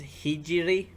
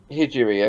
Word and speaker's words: Hijiri: just for a note it's hijiri hijiri okay hijri yeah sorry and then